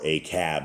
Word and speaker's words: Ahab: in the years of Ahab or aab as they as his proper pronunciation is and um you